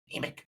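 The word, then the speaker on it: Yeemik: Yemek? Emmet. Yeah, Yemek with a Y. Oh my god, I've been saying it wrong the whole time. I mean, it's pronounced pretty much. Emic, Yes.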